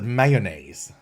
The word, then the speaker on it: Mayones: Now, some people pronounce it mayonnaise, like the sauce. But this is Mayones, I think.